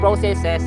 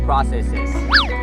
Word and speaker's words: processes: sa kanilang eating processes pwedeng processes at pwedeng processes Depende po sa inyong pronunciation both are acceptable kasama sa kanilang eating